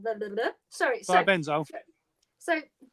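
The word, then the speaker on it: thiabendazole: Yeah, so you've got imazolil, fluoxetinool, and the thiablenzel. Blah, blah, blah. Sorry, thiabenzole.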